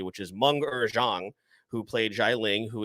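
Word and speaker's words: Meng'er Zhang: shout out to um i looked up the pronunciation of her name because i wanted to say it correctly which is manga zhang who played jai ling who is shang chi's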